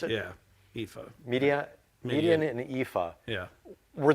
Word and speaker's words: Ephah: From Midian and Ephah, is that how you pronounce it? Yeah, Ephah.